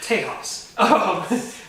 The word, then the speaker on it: Tejas: And I mean that's how it's pronounced, Tejas. But I was out around there with my grandpa and my cousin Shane.